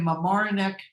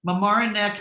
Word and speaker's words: Mamaroneck: She's a two-time best overall kitchen winner in our annual NKBA design competition and principal of Studio Dearborn in Mamaroneck, I said it right that time, Mamaroneck, New York, Sarah Robertson, AKBD.